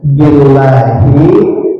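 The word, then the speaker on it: بالله: Bisa disebut dengan wallahi, billahi, dengan tallahi kalau membacanya memakai majrur. Wallahi demi Allah, tallahi demi Allah, billahi demi Allah. Maka membacanya harus dijarkan dengan memakai kasrah.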